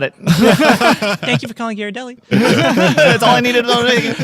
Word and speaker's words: Ghirardelli: Yeah, I went straight to the source because I didn't know myself, and it's Ghirardelli. You call the company, they're Ghirardelli. I'm like, got it. Thank you for calling Ghirardelli.